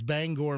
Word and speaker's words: Bangor: I'm looking right at No, you don't say you don't pronounce it Banger. Bangor. It's Bangor, Maine.